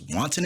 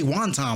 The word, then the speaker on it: wanton: You charged to go in there with a charge that I can barely pronounce: wanton endangerment. Often I say wonton like the Chinese food because I just can't get it right.